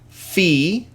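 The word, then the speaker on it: φ: Upsilon, phi, chi.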